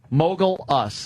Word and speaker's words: Mogulus: Uh, it's spelled like mogul when you're a mogul. M O G L and then us mogul us.